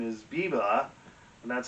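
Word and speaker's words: Biber: pronounce it because it it's too tempting to make it sound like justin bieber but he's an austrian composer and therefore his last name is biba and that's how you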